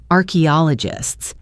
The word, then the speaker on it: archaeologists: Let's look at the pronunciation of that word. Archaeologists arche all ogists.